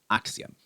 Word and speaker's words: axiom: So we pronounce this word with stress on the first part. Axiom revelatory axiom.